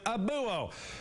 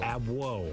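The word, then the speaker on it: Abouo: everyone else calls him Abuo. Sir Charles, let's clear this up right now. Not Abuo. Not Abuo. Abwoe. Abwoe, exactly. Okay, let's mark this down. Charles Abwoe. Exactly. Yes, thank you, Charles Abwoe.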